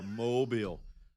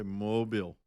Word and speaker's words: Mobile: Mobile. People not familiar will say Mobile. Oh, Mobile. I was like, no.